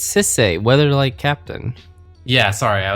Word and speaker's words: Sisay: First Sliver, Urza, Yawgmoth, Ayula, Hogak, Bashalimons, and Sisaya. And just saying, like notably there was like Urza and the First Sliver, no big deal. Sisay. What did you say? What? It's Sisay, Weatherlight Captain.